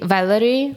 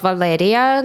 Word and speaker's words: Valeria: But I have such a problem because foreigners usually say Valerie, not Valeria, because it's hard to pronounce for them too.